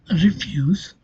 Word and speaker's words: refuse: In the verb refuse, the dress falls on the second syllable.